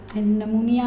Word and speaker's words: pneumonia: नमूनिया में पी जो है वो साइलेंट है, ठीक है।